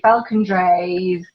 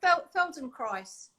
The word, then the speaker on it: Feldenkrais: realize i don't even know how to say falcon dress felt and christ it's not it's not yeah well feldenkrais no you're joking no okay so i've been